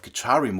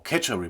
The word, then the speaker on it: Khechari: the Practical use of Karim mudra or ketar mudra it's pronounced different in different uh regions is to be able